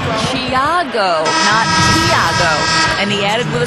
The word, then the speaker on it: Tiago: but he said so pronunciation of his first name is closer to Jia go and he added with